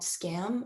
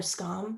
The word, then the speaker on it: Skam: I mean, for this show specifically, I was very much influenced by the Norwegian show called Scam, or Skam, I think is how you properly pronounce it.